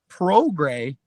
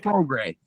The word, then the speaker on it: Prograis: I found out that Prograis that's how you pronounce that last name. You don't pronounce the S. Right. It's Prograis.